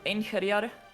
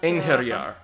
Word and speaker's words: Einherjar: No, I think that you need to, like, accentuate the H a little bit more. Einherjar, but... Einherjar.